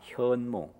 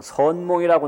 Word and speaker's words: 현몽: 현몽. 근데 우리 할머니는 옛날에 한문을 잘 모르셔서 선몽이라고 나한테 가르쳐 주셨어요. 선몽했다고. 근데 알고 보니까 그 발음은 잘못된 거더라고요. 내용은 맞는 거고. 현몽이에요. 현몽.